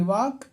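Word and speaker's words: walk: है ये इसको पढ़ेंगे वाक इसमें एल साइलेंट है और यह ऑनर इसमें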